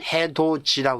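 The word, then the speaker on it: 해돋이: 때도 밑에 디귿 있니다 그러나 우리 발음은 해도지 했죠 왜 그러죠 구계음화 현상이죠 음마는이 디귿이 그다음에 이를 만나면은 발음이 지역으로 바뀌어 버립니다 그다음에 또 기하면 또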